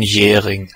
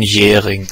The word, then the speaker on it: Jhering: Vamos lá, pronúncia original do nome dele. Rudolf von Jhering. De novo. Rudolf von Jhering. Então, a teoria objetiva de Jhering é como a gente normalmente fala o nome dele aqui.